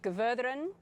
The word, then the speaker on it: Gudrun: Yes, it is, except it's pronounced very differently in Iceland. So it's pronounced Gudrun in Iceland.